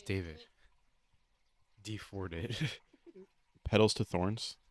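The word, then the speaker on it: D4vd: No, it's David.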